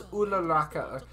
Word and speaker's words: Uraraka: Are we gonna get some Deku and Uraraka development? No, I was told it's Uraraka. I was told to pronounce it differently. Ooh, like it's the double O's are like ooh.